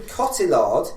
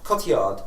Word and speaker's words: Cotillard: Um, Marian Cotillard, is that how you pronounce it? Or is it Kotiard? Cotard. It's French. Kotiard. It's French Canadian.